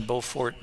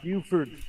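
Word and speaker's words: Beaufort: Bow for Bowfort, South Carolina is different than Bowfort, North Carolina in pronunciation or Yes, Buford. That's the way that we always pronounce it when I was stationed down in South Carolina.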